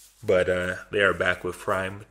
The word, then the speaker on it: PRhyme: They want it pronounced Prime.